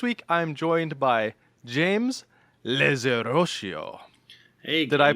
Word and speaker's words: Zerotio: I'm your host, Josh Augustine, and this week I'm joined by James Zerotio. Hey, did I pronounce that right? You did, Zerotio.